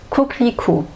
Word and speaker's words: coquelicot: c'est la même chose alors normalement si je parle doucement coco ico je ne prononce pas comme ça dans la réalité je vais dire je vais couper en fait ce jeu là on ne l'entend pas coquelicot coquelicot voilà coquelicot une